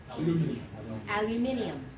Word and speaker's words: aluminium: And how do they say aluminum? Aluminium. They actually pronounce it aluminium.